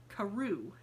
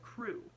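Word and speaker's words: Crewe: in the name well madame pascal pronounced as if it were karoo instead of crew but that might be merely a matter of pronunciation the circumstances were curiously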